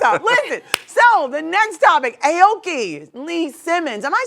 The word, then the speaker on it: Aoki Lee Simmons: what's up what's up so the next topic Aoki Lee Simmons am I saying that right yeah oh I